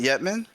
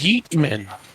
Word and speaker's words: Heatman: Say his name. What, Yetman? What the fuck was that? His name is Heatman.